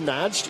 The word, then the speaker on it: Nagy: dániel nagy it's pronounced najd even though it's got a y on the end Benny mean less n